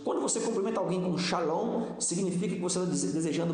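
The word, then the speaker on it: שלום: Há algo interessante aqui que você vai levar ainda nessa introdução que paz no hebraico é pronunciado como shalom, que não significa apenas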